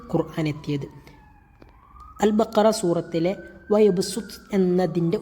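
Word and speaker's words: وَيَبْسُطُ: അൽ ബഖറ സൂറത്തിലെ വയബ്സുത്ത് എന്നതിൻ്റെ ഉച്ചാരണം എങ്ങനെയാണ്? അവിടെ സ്വാദിനെ സീനാക്കി മറിക്കണം. അതായത് അവിടെ കാണുമ്പോൾ എഴുത്തിൽ സ്വാദായിരിക്കും ഉണ്ടാവുക, എന്നാൽ ഉച്ചാരണത്തിൽ സീനായിട്ടാണ് നമ്മൾ എന്താ വേണ്ടത്, ഉച്ചരിക്കേണ്ടത്.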